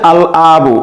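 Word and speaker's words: الأب: হামজা দ্বারা প্রথমে যে শব্দটি বলা হচ্ছে সেটা হচ্ছে আল আবু। আল আবু, আল আবু মানে হচ্ছে বাবা। এখানে এখানে দেখা যাচ্ছে যে আবুনের পূর্বে আলিফ লাম যুক্ত হয়েছে এবং এই লামটি উচ্চারণ হচ্ছে আল আবু অর্থাৎ বাবা।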